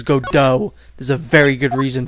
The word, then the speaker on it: Godot: to the third game, I will be pronouncing it Godot, because that is definitely how it's pronounced. If anyone disagrees with me, I will fight you, because his name is Godot.